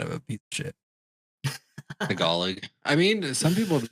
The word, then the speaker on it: Tagalog: Tagalog, by the way, is how you say that.